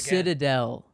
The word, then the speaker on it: Citadel: Citadel. The Citadel. Citadel. There you go. Okay. There you go. Okay. I was a syllable off with the city.